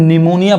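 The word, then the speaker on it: pneumonia: अब इसको हम निमोनिया पढ़ेंगे। यहाँ पे देखिए पी साइलेंट है, पी नहीं पढ़ाएगा, जिसका ये निमोनिया क्या है, तो एक फेफड़े की बीमारी है।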